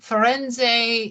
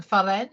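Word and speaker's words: Firenze: poting to and and foren is the Italian way of saying Florence so you're in Italy so say it like the Italian foren and here get your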